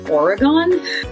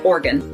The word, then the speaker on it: Oregon: that they pronounce it Oregon, like an organ in your body, kidney or a liver or something. They do not separate the 3 syllables and say Oregon, which is how I learned it.